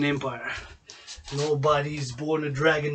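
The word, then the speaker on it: Dragan: nobody is born a dragon not even myself born with a surname dragon pronounced reagan dragon dragon although it's an a n at the end not a no n it's d-r-a-g-a-n born my surname the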